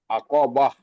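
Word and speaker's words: عقبة: ক বাহ বাহ বা উচ্চারণ করার সময় গোলটা হা হয়ে যাওয়া বাহ আকবাহ জি মাশাল্লাহ এর মধ্যে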